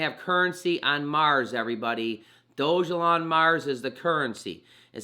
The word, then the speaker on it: Dogelon: Dogelon, it's pronounced Dogelon, not Dogelon.